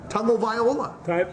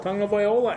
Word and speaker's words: Tagovailoa: Tagovailoa. Tongue. You gotta say tongue. Tagovailoa.